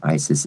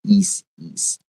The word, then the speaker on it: Isis: And I just want to be clear, it's not pronounced Isis, it's pronounced is east.